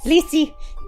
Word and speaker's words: Lissi: It's Lissi. You can all guess how to say my name. Hi, I'm Lissi, or as some people say, or some people also say, or, or, because I've given up.